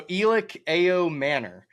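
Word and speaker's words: Elic Ayomanor: So, Elich Ao Manor is how you pronounce it.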